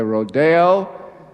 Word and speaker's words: Rodeo: Some people say Rodeo. I asked in the West how they say it. They said, you say it the way you like.